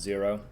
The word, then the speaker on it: Xero: zero so it's uh spelled x e r o but it's pronounced zero and there are newcomers